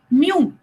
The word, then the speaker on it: μ: इसको हम प्रोनाउंस करते हैं mu, म्यू.